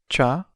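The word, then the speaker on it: tchau: literally means bye let's break it down by syllable cha now let's hear it again cha now for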